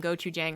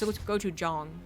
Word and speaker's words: gochujang: was like, you know, do you want some gochujang on that? And I was like, it's gochujang, you know, and he just looked at me and he was like, why do you do that?